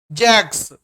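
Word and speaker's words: Jacques: जैसे लिखा रहता है जैक्स, बट इसको प्रोनाउंस क्या करते हैं, प्रोनाउंस करते हैं जैक।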